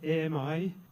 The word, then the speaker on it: AMI: mistake so we prefer Ami and we pronounce it am which in French means friend I think it's appropriate